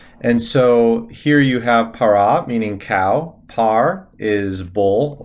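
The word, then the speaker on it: פרה: if we have uh the word for cow para para normally a feminine word is going to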